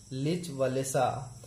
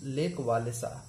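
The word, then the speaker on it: Lech Wałęsa: Farmer electrician of the shipyard लिच वालेसा, pronounce लेक वालेसा, एक उसी shipyard में पहले काम करने वाला एक और इलेक्ट्रीशियन था जिसका नाम था लेक वालेसा।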